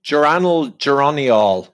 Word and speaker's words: geranyl: Geranyl? Oh, geranyl is how I pronounce it. Yeah, geranyl.